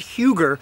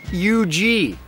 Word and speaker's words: Huger: Benjamin, not Huger, but U.G. U.G., it looks like Huger, but that Southern commander is just U.G., not to mention many others.